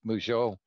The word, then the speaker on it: Mougous: be given by Mougeot. He's reminded me that his name rhymes with Peugeot.